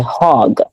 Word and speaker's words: hog: Very close, but you messed up at hog because you guys have to learn to pronounce the H's. So it's a hog. Oh, okay. Hog. You see how that's different than if I say, like, can you give me a hug? Versus that's a hog.